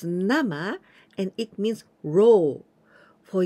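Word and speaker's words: 生: to get born well but here we pronounce nama and it means ro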